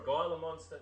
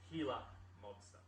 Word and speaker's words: Gila monster: them gila monster or guyla monster not the g is silent so it's healer monster are they found anywhere